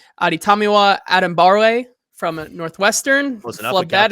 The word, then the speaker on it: Adetomiwa Adebawore: Why don't we start with the Northwestern product himself, Adetomiwa Adebawore.